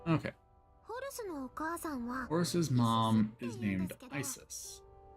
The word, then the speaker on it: Isis: Horus's mom is named Isis, but ancient Egypt, it's pronounced closer to Aset or Aset.